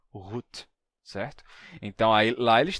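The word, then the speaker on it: goed: e G do Alemão em holandês se pronuncia rut certo Então aí lá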